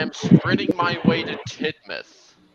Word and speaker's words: Tidmouth: spreading my way to Tidmouth it's pronounced tit mouth uh and I'm out